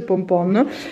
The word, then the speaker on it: pompoen: si dice pompon, cioè si scrive pompoen ma si legge pompon, e sono semi di zucca appunto, io li metto nella zuppa, alla zucca.